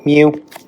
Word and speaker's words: mu: So it's pronounced mu which is the average of the data set and also the standard deviation.